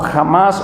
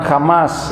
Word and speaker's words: Hamas: Es un grupo llamado Hamas o Hamas, no sé cómo se quiera nombrar, ¿verdad? Va con H muda ahí, pero lo nombran Hamas, ¿verdad?